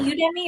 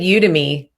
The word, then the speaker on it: Udemy: as a course on you you is it you demi are you udemy how do i pronounce that i've always said you to me you to me okay so it's odd to